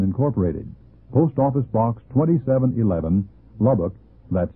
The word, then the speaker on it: Lubbock: If you have any questions or comments, please write Bob at the International Sunday School Lesson Incorporated, Post Office Box 2711, Lubbock, Texas, 79408.